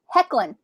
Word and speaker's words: Hoechlin: Tyler Hoechlin is also in that because he plays what is it?